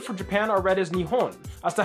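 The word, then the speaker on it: 日本: anyways the kanji for Japan are read as nion as to how this works well there are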